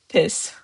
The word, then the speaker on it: PİS: It's just piss one syllable.